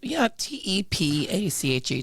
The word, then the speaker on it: Tepache: Even though it's spelled, T-E-P-A-C-H-E, Tepache.